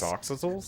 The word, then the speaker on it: axolotl: that starts with I an saw A their that's hard to brains pronounce. downstairs. Axolotls? Listen, Axolotls? first Axolotls? things first. Axolotls.